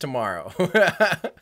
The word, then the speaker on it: TMRO: Anne hello Higginbotham's yeah tomorrow is pronounced tomorrow yeah sorry I always have to spell it out tmro because if I tell